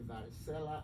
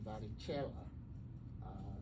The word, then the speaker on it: varicella: People say varicella, I say varicella. That is how it should be pronounced based on its origin.